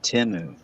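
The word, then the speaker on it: Temu: ad straightened it out it's pronounced timu wish they call wish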